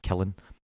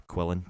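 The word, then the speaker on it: Qilin: absolutely amazing eh so it's actually a killing or a quillin just depending on how you also pronounce it which is basically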